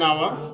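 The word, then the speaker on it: hour: इसके कुछ एक्सेप्शन भी हैं, अपवाद हैं, जैसे कि इसमें लेटर आया है एच, लेकिन उसका प्रोनाउंसिएशन आ से आ रहा है, आवर। एच उसमें साइलेंट, एच उसमें साइलेंट है।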